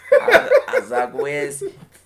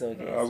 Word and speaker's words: Azogues: We both was wrong. Azagüez. I was Azogues.